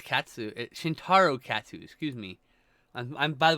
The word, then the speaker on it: Shintaro Katsu: of course the acting is also very oh shinjirokatsu is like i think i butchered his name one second oh my god i literally had a moment where i went uh-oh i know it's katsu shintaro katsu excuse me i'm by the way katsu is